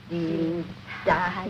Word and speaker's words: Dienstag: That is good, but pronounce the words broader, so Sonntag, Montag, Dienstag, yes?